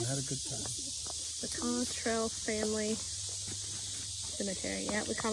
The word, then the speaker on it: Cottrell: I think it's Cottrell is how you pronounce it.